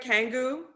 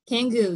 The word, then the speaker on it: Kangoo: me about okay am i saying it right kangoo kangoo yes thank you they are low impact rebounding